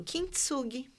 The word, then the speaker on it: Kintsugi: Como que pronuncia isso? Kintsugi.